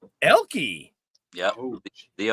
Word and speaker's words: Oelke: The O is actually silent. It's Elke. Elke.